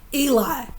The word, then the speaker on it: Ely: Eli, not Ely. Eli. It's spelled E-L-Y, all right?